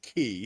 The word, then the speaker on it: Quay: Harbor, the Circular Quay, actually they pronounce it key.